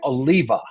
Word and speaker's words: Oliva: also a former classmate of convicted predator Gary Oliva. And did I pronounce it right, Michael?